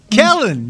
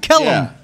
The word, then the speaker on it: Kellen: another year with with kellen let's go got his game right now got my man's name right kellen not keller oh yeah because he